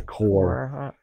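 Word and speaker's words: coir: how to say it it's choir a core a core oh yeah well some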